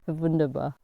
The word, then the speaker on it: Wunderbar: Vunderbar. Is that how you say it? Yeah. Vunderbar.